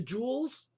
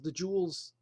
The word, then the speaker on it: Jewel: the Jewels, not the Jewels. That's how you say it in Chicago, the Jewels, but it's just called Jewel. There's no the or the s, Jewel, but Chicago calls it the Jewels.